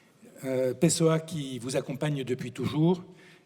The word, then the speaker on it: Pessoa: Je prononce à la française. Pessoa qui vous accompagne depuis